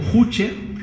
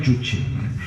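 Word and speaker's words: 주체: conocemos como idea juche se escribe que la mayoría de personas la pronuncia como juche pero se pronuncia coreano chuchi la idea juche básicamente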